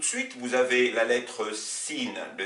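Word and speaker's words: سين: Donc, alors, à propos de ces paires de lettres, vous avez par exemple la lettre sin, l'équivalent du S français, qui s'oppose à la lettre sod.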